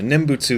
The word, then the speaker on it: nembutsu: also true for nimbutsu nimbutsu is the practice of chanting the name buddha yeah is how you say it and i don't know